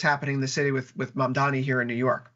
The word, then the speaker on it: Mamdani: If it's Trump, what he's doing at the national level, or even something like what's happening in the city with Mamdani here in New York, pronounced it right that time, Victor.